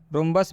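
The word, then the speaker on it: rhombus: रोम्बस में भी आप देख सकते हैं आर एच एक साथ में आया है और जब भी आर एच एक साथ में आएगा तो इस आर एच का उच्चारण हम लोग र से करेंगे।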